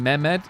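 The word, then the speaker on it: Mehmed: The H in memed is silent.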